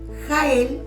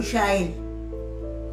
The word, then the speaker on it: Jael: Otra, Jael o Yael, como más la quieran pronunciar.